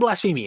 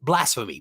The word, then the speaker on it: blasphemy: blasphemy a lot of blasphemy in this book um blasphemy blasphemy sorry I had uh the the syllables on the wrong place Sacrament is definitely for